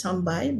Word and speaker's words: sambal: For example, the word sambai is pronounced as sambai, but when it's written out as sambal.